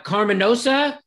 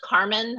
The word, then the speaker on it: Carmen: doing i see uh carminosa there she is let's unmute you am i getting that right you know uh how do i pronounce that yeah it's actually just carmen uh my last name